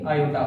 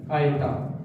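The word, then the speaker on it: iota: आयोटा। क्या बोलेंगे? आयोटा। देख लीजिए इसका उच्चारण आयोटा।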